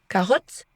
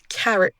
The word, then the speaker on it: carrot: On ne dit pas carotte. Mais carrot, on dit pas banana mais banana.